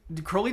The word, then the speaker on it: Crowley: evolution from crowley okay notice how i said crowley because it rhymes with holy oh jamie you can